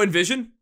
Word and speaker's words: NVSN: I don't know how to pronounce their name, but it's NVSN. Oh, Envision?